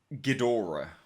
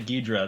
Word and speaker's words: Ghidorah: really decent so Ghidorah people always hate on me for saying that in that way how do you say in his name like that I said Ghidorah yeah people want to hear you say goodra that's what they want